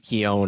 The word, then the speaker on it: Keown: who was your guy the last name is k-e-o-n is a hall-of-famer dave keown i think it's pronounced he does not have